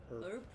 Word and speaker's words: herb: Americans say herb. Herb jar, and sighed Really? as she examined the contents. Are you sure it's a herb? Herb. I think it's herb.